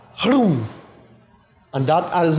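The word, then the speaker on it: Hroum: Hrum. And it must be a flutter on the tongue. Hrum. Like you're saying whom, but with the R. Hrum. And that is not like me just saying hrum.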